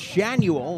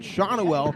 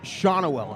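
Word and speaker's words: Schanuel: we found out that his name was not pronounced shanual like we had been saying but shawnawell because austin strickland came right up to us right in front of us and said it's pronounced shawnawell and we looked at him and we were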